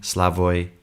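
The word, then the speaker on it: Slavoj: saying who smashes peterson slavoy zizek slavoy is spelt s-l-a-v-o-j you should watch it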